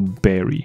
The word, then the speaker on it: bury: 很奇怪，他不念做 bury，他念做 berry，他跟 strawberry 的 berry 的发音基本上是一样的，蓝莓、